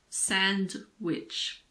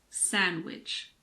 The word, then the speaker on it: sandwich: It's not sandwich. It's sandwich. Wednesday.